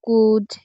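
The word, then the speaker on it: could: For example, walk এই শব্দে কিন্তু এল এর পরে কে আছে, তাই এল এর উচ্চারণ হবে না। এছাড়াও কুড, উড এ ধরনের শব্দেও এল এর উচ্চারণ হয় না।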